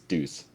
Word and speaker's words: Deuce: He had Deus and boop, nope. Well, according to Avak, it's Deuce. Oh, no, I was pronouncing Yeah. it incorrectly the whole time.